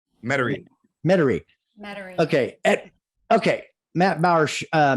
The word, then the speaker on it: Metairie: at uh Matt Bauer I say it right mid-air Metairie Metairie okay okay Matt Bauer uh Metairie Chevrolet Metairie